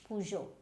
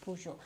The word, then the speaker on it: Peugeot: Then you have this P-E-U-G-E-O-T. Now what will you pronounce this as? Now this is Peugeot. Now again, this is a French brand.